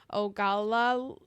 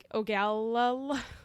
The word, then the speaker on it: Ogallala: Ogallala. Ogallala. Ogallala. Ogallala? Sure. Spell it again.